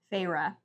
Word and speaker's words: Feyre: not appreciative I also how do we say her name again farra farra and we only figured that out because of they annunciate it for us yep one of the